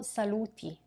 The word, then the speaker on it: saluti: Now, what about saluti, the form with the final I pronounced E?